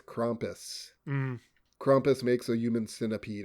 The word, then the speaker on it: Krampus: Is it Krampus or Krampus? German pronunciation would be Krampus.